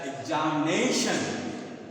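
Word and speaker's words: examination: द एग्जामिनेशन, इट is pronounce as एग्जामिनेशन। तो तो इस पर ज़्यादा फोर्स देते हैं नेशन, नई।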